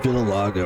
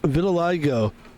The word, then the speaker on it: vitiligo: is a There is like a color called vitilago or something. Hold on. I think it's a skin condition. Is there a skin condition called vitilago? Oh, yeah. pronounced vitil vitil. Yeah, I'm right. Vitiligo.